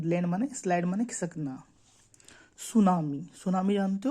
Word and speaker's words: सुनामी: उसे सुनामी कहते हैं आप लोग कह रहे होगे कि सुनामी में टी साइलेंट है हां थोड़ा जापानी अक्षर है ना तो इसमें टी साइलेंट रहता है बाकी तो देखो स्पेलिंग